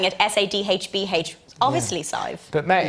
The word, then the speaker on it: Sive: You pronounced it right. Nobody pronounces it right. I've been working on it all day. Don't get me wrong. Honestly, I accidentally said Sieve and he goes, Sive.